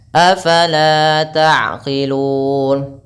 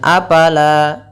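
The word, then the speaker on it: أفلا تعقلون: Kemudian, afalaa taqilun. Berhati-hatilah saat mengucapkan huruf fa. Jangan dibaca sebagai apala. Apala, tidak. Bukan pa, tapi fa.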